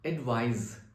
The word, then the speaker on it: advise: Now the first word I have, its spelling is ADVISE. It is pronounced as advise, advise, okay?